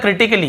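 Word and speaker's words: critically: रहे हैं फिर देखिए क्रिटिकली क्या होता है क्रिटिकली यहां पर भी ए का उच्चारण नहीं हो रहा है और फिर देखिए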